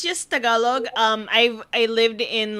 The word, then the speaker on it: Tagalog: It's just Tagalog.